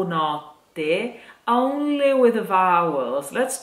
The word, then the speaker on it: notte: But if you want to make the difference in pronunciation between notte, which means night, and note, which means the note that you sing, you have to keep in mind that note, note has just one T, while notte has that suspense sound